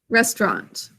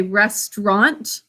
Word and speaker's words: restaurant: arla mint congress restaurant i end up making it a two syllable words that's acceptable to say restaurant and then some people say restaurant so just a heads up that some people cut it down to two syllables let me know when